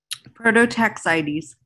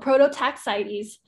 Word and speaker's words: Prototaxites: prototax sites um angel you can pronounce that prototaxities oh prototaxites the size of trees